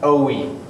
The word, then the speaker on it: Joey: mispronounce ing my name the J is silent it's pronounced OE o hey me yeah